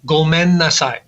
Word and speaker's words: gomen nasai: And hopefully it's not one that any of us will need to use too often, but it is gomen nasai.